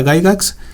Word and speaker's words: Gygax: Que por cierto, yo sé que se pronuncia Gygax, pero no me gusta cómo suena Gygax.